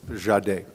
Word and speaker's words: Jahdae: But um but I think it's Jade.